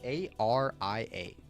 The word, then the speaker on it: Aria: How do you say that word? A r i a. It's not area. I mean, it sounds like area, but that's not that's not the word.